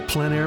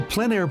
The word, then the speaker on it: plein air: This is the PleinAir Podcast with Rhoads, publisher and founder of PleinAir Magazine. In the PleinAir Podcast, we cover the world of outdoor painting.